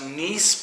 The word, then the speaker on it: gneiss: They have I believe it's pronounced gneiss pebbles that makes for an interesting dynamic in the wines.